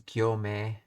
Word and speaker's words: 行目: Oh, is that So it's pronounced as gyome.